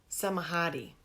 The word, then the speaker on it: Samadhi: Samadhi. And that means, hey, you a hottie? Some a hottie.